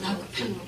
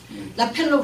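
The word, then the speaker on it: Rockefeller: 자, 한국 사람들이 어떻게 발음해요? 라펠로. 저희는 이제 라크펠로라 부릅니다. 영어로 말하면 라크펠로. 라펠로 그러면 잘 몰아들어요. 그래서 라크펠로라고 말해요.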